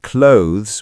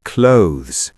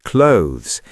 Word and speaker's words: clothes: It's actually clothes. One syllable and it ends with a thz sound, not just z. Clothes. That's so quick. Yes, clothes. It rhymes with oaths, not closes.